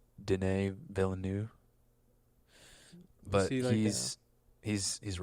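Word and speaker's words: Villeneuve: things who is it uh I think it's pronounced da villanu but he's he's he's a really good director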